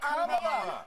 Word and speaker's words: Kamala: Kamala Harris, if Kamala, Kamala, you said this. We're not calling you Nancy. It's Kamala.